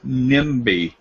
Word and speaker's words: Nnebe: Now the M sound, NIMBY.